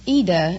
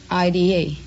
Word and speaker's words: Ida: Well, it's Ida in Italian, but... Oh, it's like Aida? Well, no, there is no A. It's just Ida. I-D-A. Oh. But the American pronounce it Ida.